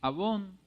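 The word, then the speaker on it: עָוֹן: O sea, la palabra iniquidad en el original hebreo es abón, A-V-O-N, con acento en la O, y es perversidad o mal moral.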